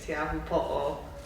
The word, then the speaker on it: Te Ahu Po'o: I spoke to someone and they're like, Tahitian is really close to Hawaiian, so how you probably pronounce it in Hawaiian is Te Ahu Po'o.